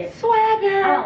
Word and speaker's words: Swagher: called SW swager how should we say it Swagger I don't like that I think it should go swagger no I think it's go Swagger so she going to say it quicker and